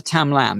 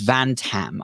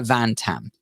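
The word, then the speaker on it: Van-Tam: the university of rochester i think it's professor tam lam if i'm not mistaken i really hope i've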